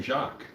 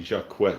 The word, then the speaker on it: Jacques: Oh yeah, I remember one guy I met named Jacques, and I just called him Jacques.